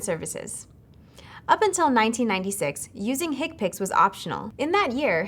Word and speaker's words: HCPCS: common procedure coding system HC PCS commonly pronounced hick picks this code set is based upon CPT in fact the first level of hick picks is identical to CPT